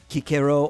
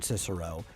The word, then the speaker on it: Cicero: I think in one of them they had Kikero, or they used the modern pronunciation Cicero, show up in it.